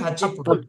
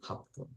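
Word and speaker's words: happun: Goju, Goju, Hachipun, Okay, you're saying Hachipun. Hapun. Actually, Hapun. Gogo, Yoji, Goju, Hap. Okay. Gogo, Yoji, Goju, Hapun.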